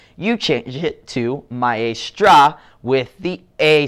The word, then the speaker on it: maestra: And to say a lady teacher, you say maestra. So instead of maestro with the O sound at the end, you change it to maestra with the A sound at the end.